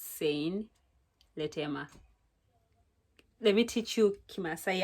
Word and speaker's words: Sein Letema: It's your girl Sein Letema. By the way, that is how you pronounce my name. It's Sein Letema.